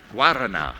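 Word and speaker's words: Guaraná: Guarana.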